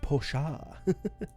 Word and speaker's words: Porsche: It's pronounced Porsche.